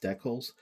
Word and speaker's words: decal: There are an insane amount of decals to put on this side, and yes, I'm Canadian, so I pronounce it as decal versus our American neighbors who pronounce it as decal. Either way works, okay?